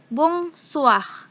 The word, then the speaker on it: bonsoir: Nah, cara membacanya adalah bonsoir.